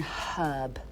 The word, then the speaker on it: herb: Thing is, though, I have to say, why don't you pronounce the H in herb?